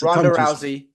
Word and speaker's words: Rousey: the fact that Ronda Ronda Rousey how you pronounce her name gez it's Rousey thank you wanted to emulate him um you